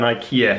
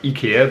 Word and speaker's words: IKEA: I mean, it should probably be pronounced Ikea, but in English I assume you would say Ikea.